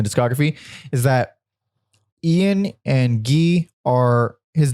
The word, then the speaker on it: Guy: later in the discography is that ian and gee are his name looks like it says his name is not guy it's spelled guy but it's pronounced uh they are